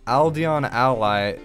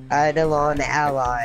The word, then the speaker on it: Eidolon Ally: And what I thought of doing was grabbing the Necrochasm, Aldeon Ally. Is that how you say it? Eidolon Ally.